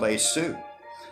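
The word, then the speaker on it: Yeshu: You don't even say his name right. It's called Esu. The Hebrews put in the put in the J and the S.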